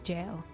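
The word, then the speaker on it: gaol: served as the City's Jail I'm pretty sure gowl is just pronounced jail it spelled gowl though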